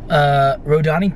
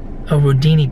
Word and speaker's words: Rodini: It is called Rodani Park. Rodini Park. I've been saying it wrong this whole time.